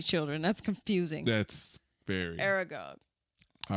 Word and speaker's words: Aragog: Who is Angog the Archnid? I'm sucky at these pronunciations. Harvard Niches. Hagrid's School of Champion. The Oh, Aragog.